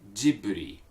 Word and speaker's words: Ghibli: three or wreath okay G boot three okay jibley okay this character that we're looking at okay